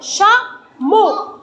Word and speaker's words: chameau: où chameau non prononciation chameau tu vas le placer où o très bien même si ce n'est pas écrit le O mais on prononce le O vous avez compris alors